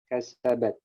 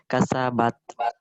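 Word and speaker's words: كَسَبَتْ: Jangan bat. Awas bat. Bat. Kalau bat, itu Kasabat. terlalu banyak, terlalu pecah. Kasabat. Kasabat. Cukup 2 gigi. Kasabat. Nah, cukup 2 gigi. Jangan kebanyakan. Kalau kebanyakan 4 gigi kasabat. Kasabat. Coba ucapkan kasabat. Kasabat. Berapa gigi kenanya? 2 atau 4? 2. Nah, Entah. kalau 2 dia nggak terlalu pecah. Kasabat. Awas jadi C.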